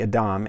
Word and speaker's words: adam: created the first human the adam and the reason i'm pronouncing it that way is because here god took the human from the top soil of the fertile land and this word is adama so quite literally it's the earth creature god